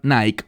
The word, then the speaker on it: Nike: la famosa marca deportiva Nike. Esa palabra Nike o Nike, como algunas personas lo pronuncian en griego, tiene que ver con victoria, con superar o derrotar al enemigo.